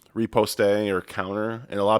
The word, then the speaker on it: riposte: Riposte. man, That's how you pronounce it in America.